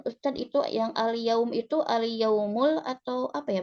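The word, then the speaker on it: اليوم: Apaan Ustadz itu yang al-yaum itu al-yaumul atau apa ya bacanya? Bisa al-yaum, bisa al-yauma. Oh, Bilang al-yaumu saja.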